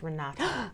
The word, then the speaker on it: Renate: about yourself um well my name is pronounced Renata oh okay so thank